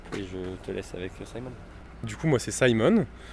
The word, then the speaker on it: Simon: je te laisse avec Simon. Du coup, moi, c'est Simon, parce qu'on est 2 Simons à la ferme. Donc, j'ai dû embrasser une vocation anglaise. Et ça s'écrit SAI-MONE.